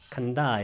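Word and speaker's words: khandha: 그러니까 장단음은 뺐습니다. 일단 간다 이렇게 발음해야 돼요.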